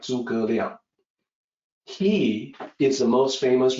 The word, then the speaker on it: 诸葛: As a native English speaker, you could look at that and say, oh, Zhuge, like rhymes with huge. That's his name. No, it's actually 诸葛.